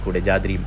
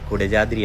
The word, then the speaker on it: കുടജാദ്രി: കുടകപ്പാല ചെടിയുടെ പൂക്കളുടെ പേരിലാണ് കുടജാതിരി എന്ന് ഈ മലക്ക് പേര് വന്നതാണ് പറയപ്പെടുന്നത്. നമ്മുടെ ഈ കുടജാതിരി കുടജാത്രി എന്ന് മലയാളികൾ കൂടുതലായിട്ട് പറയുെങ്കിലും കുടജാത്രി എന്നാണ് ശരിക്കായിട്ടുള്ള ഉച്ചാരണവും ശരിക്കായിട്ടുള്ള പറച്ചിലും വരുന്നത്.